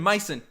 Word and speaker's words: Mason: coming in from nathan nathan mason like bison i i figured it out in the deep deep trenches in my brain i appreciate it nathan double monies for saying my name right mice and like bison but sweep the back